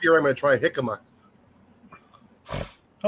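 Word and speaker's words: jícama: It's got a J in the front. I want to say jicama. Right. The thing is, it's a Spanish Spanish pronunciation.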